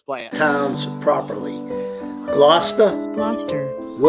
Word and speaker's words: Gloucester: clip here let's play it pounds properly gloucester gloucester that's the way you say him oh